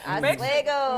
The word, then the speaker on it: Oswego: coronavirus has officially hit Oregon, more specifically Lake Oswego. Is that how you say it? Make sure y'all, right? Yeah, Oswego.